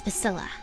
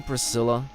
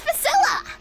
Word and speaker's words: Priscilla: If you must know, it's Priscilla. Are you sure you don't mean Priscilla? Do I look like the kind of person who can't correctly pronounce their own name? It's Priscilla.